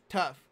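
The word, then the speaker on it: Tuff: on USC false start offense number 83 Kevin it's spelled tu FF tough - that's tough so now first and 15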